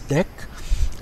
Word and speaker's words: deque: so sometimes this is also called as deck that's how it's pronounced which means items can